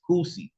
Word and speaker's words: Kusi: Just because you see how it's spelled don't mean it's got anything to do with no Kush or anything like that. It's Kusi. It's actually is a Swahili term.